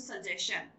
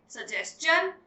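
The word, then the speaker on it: suggestion: यू आर not going to यूज सजेशन. Okay, सजेस्चन, क्वेश्चन और क्वेश्चन.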